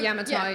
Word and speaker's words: Yamatai: especially like for, I don't know how to pronounce it. Is it Yamatai? Like, Yamatai, yep.